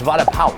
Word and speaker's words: vada pav: First of all, vada pav, that's not how you say it. It's vada pav. Like, pow.